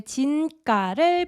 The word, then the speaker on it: 진가: So 사람들에게 제 진가를 보여주고 싶어요. So 진가 is also a Sino-Korean word that means true price, as in true value. And it's pronounced 진가, 진가, 진가.